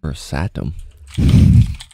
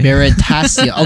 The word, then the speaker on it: Veritasium: Versatum. Is it porn star that has a very similar name that I thought you were gonna say? Veritasium.